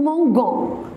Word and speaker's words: mangeons: J'ai mis E devant le ONS. Parce que c'est un verbe, parce que si je vais le prononcer sans le E, on va le dire nous mangeons.